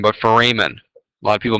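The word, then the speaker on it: foramen: those are what are called nutrient fmen not Forin but fmen a lot of people mispronounce that term okay understandably you're just learning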